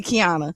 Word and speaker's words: Qiana: Uh when people look at my name, sometimes they can't pronounce it because it's the Q without the U.